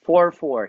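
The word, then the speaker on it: 4/4: The way we pronounce it is 44. Hindi siya 44. Walang th kasi pag th fraction na po yon.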